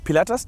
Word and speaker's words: Pilatus: next all right flat-plane is a Pilatus pc-12 paletas did I pronounce that right yep what does it even